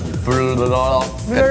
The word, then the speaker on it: blocador: 到嘅，佢係要 block 嘅 block 嘅多。 block 嘅多就係因為我哋不停喺現場咧喺度講嗰個 block 嘅多，即係 block 更多咯。